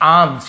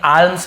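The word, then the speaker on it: alms: फॉर यानी के लिए आम्स यहां प एल को नहीं पढ़ेंगे आर्म्स नहीं बोलेंगे आर्म्स आम का मतलब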